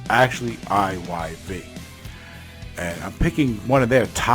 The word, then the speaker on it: IYV: I'm talking about IYV. A lot of times, people mistype or mispronounce the name as Ivy, IVY. It's actually IYV.